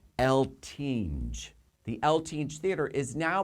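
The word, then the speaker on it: Eltinge: the old eltine Theater El Tina I keep mispronouncing his words El tinge the lth theater is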